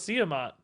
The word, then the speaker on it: Siamat: Siamat? No, I actually asked Mike today how to say it, and he told us Siamat.